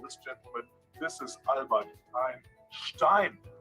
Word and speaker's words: Einstein: He pronounces perfectly. It's Einstein.